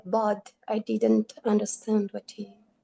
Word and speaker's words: ض: So when you actually like pronounce it, so I want you guys to say ض. When you feel your tongue, where do you feel it? It's at the roof of the hard part of the mouth, right?